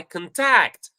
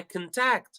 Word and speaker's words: contact: syllables, if it is a verb, the second syllable is high. So I can say, I contact, I contact. So you notice, contact.